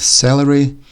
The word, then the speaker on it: celery: have celery and salary' again very similar sounding words they're spelled differently that but the C and the S make the same sound the only difference in this sound is the first E compared with the first a salary is a vegetable